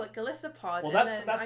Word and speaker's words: Golisopod: I think I really like Golisopod. Oh, I see. I call it Golisopod. Well, it's a Goliath isopod. Oh my god. See, I've only heard people call it Golisopod.